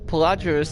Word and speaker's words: Pelagius: Pelagius.